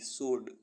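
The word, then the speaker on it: sword: मीस उत्तर अ एस डब्लू ओ आर डी सड सड मींस तलवार डब्लू आर ए पी रैप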